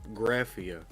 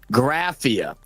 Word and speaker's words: Graffia: And for the record, the pronunciation is Graffia. Graffia.